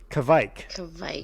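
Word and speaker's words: kveik: pecan thing i gotta make sure i'm pronouncing this right kevik yeah i remember now all right so um yeah i got to have more of these kavik beers because i don't know if i can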